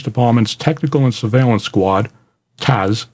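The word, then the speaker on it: TASS: Technical and surveillance Squad Taz t-a-s-s is pronounced Taz okay installed a police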